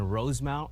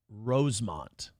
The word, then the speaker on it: Rosemount: Rosemont. It's not Rosemount. It's spelled Rosemount just like New Prague is spelled like Prague, but everyone calls it New Prague.